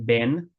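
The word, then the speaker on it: બહેન: Ben has an H. It's Bahen. She is my sister. E Mari Ben che. It's pronounced Ben, like that, but it's spelled Bahen.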